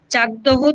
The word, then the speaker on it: চাকদহ: যেখানে আমাদের তোমার ঘুষিভবনের ব্যাপার সেখানে কি হয় চাকদহ থেকে চাকদহ বা চাকদা থেকে এইটা থেকে এর যার উচ্চারণটা তাহলে চাকদহ উচ্চারণটাও হয় সেই উচ্চারণটাকে কয়